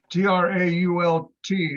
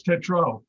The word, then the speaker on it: Tetrault: T-R-A-U-L-T. I would pronounce it Trault. No, Sorry, T, E, yeah, thank you. Thank you, Scotty. Or is there Read a my writing. letter? Tetrault. Gotcha. That's Tetro.